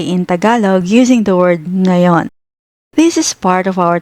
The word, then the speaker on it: ngayon: need to know is ngayon. Inalog, the English word now translates to ngayon. But depending on the context, it can also mean right now at this moment or even today. Ngayon pronounced nga yon is used to express